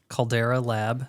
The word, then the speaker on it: Caldera Lab: how you pronounce it that's not how you pronounce it no Calvin how do you say it Caldera lab Caldera lab that's fancy oh it's a body